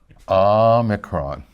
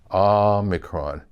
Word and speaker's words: omicron: Moo, nu, omicron, omicron. It's a short O sound, hence the micron of the name, omicron.